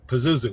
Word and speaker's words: Pazuzu: title, is it Pazuzu? Okay, I was close. Yeah, you got it. You got it right the first time.